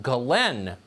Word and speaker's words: Ghislaine: crimes including sex trafficking her name apparently is pronounced glenn maxwell spelled jizzlane you know who she is